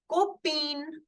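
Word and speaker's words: copine: or friend Copa copen I repeat it kopa the N is in the end so I'll keep it partially silent kopa but here the last alphabet is e so I will make the complete sound of n for girlfriend it is copen Copa Goa copen all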